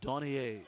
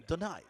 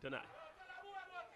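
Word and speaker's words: Donaie: Giving Darren Donier something to worry about. Did I pronounce it wrong? Donai. Donai. Yeah. Oh. St. Lucian. Oh, so we can't say Donai. It's Donai. Donai.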